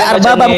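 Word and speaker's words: أربابا: Saya bisa baca ini arbabam. Min dunilah salah. Harusnya dibaca arbabam karena di situ Anda sendiri sudah membacakan itu dibacanya arbabam bukan arbab.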